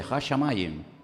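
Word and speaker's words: הַשָּׁמַיִם: Hashamayim.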